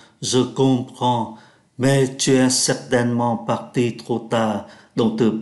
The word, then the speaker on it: certainement: Certainement là chắc chắn và người ta không có phát âm ký tự ơ ở giữa. Thay vì phát âm là certainement, chúng ta đọc nhanh là certainement.